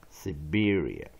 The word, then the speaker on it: Siberia: We're going to redefine the two vocabulary words, and we're going to use 40 phonics, spelling and pronunciation implement, and skill. Check out the first vocabulary. Siberia.